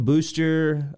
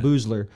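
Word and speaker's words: Boosler: had louis anderson uh elaine booster uh boozler sorry boozler pronounced that wrong elaine boozler byron allen jack hanley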